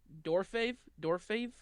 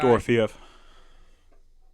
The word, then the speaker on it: Dorofeev: But Pavel, I don't know how to pronounce his last name. Pavel Dorfave. He's a right wing guy. Dorofeev.